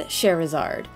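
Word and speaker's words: Scherazard: bad just Bland and cherizard yes that's how you say her name sounds like Charizard I know yes applaud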